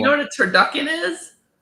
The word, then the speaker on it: turducken: what a turducken is? Turducken.